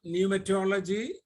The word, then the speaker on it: pneumatology: So the English word is pneumatology, where P is silent. whereas the Greek word is pneuma, where we have to pronounce P.